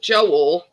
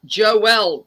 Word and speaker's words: Joelle: him female version of Joel is Joelle it's pronounced Joelle not Joel and the song from